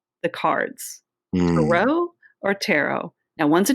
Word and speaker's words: tarot: But the T is silent on the end. And, the tarot has been all over the world.